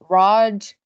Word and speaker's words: Raj: your name that is yes Ro Raj like Dodge oh gotcha I saw